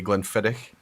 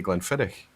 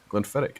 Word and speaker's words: Glenfiddich: that in your vocabulary if you can't say Glenfiddich and you say guntherick you just Harden the CH to glenfirick in its fight to a k sound yeah no here's the